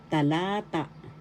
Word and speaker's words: talata: ta example halimbawa inagalog talata talata paragraph in English first syllable ta second syllable la third syllable ta the accent is in the second syllableata the second isata paragraph